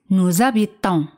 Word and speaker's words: habitons: Vivimos, nous habitons. Se hace la liaison entre nous y el verbo, porque H es muda. Y S se pronuncia como Z. Nous habitons.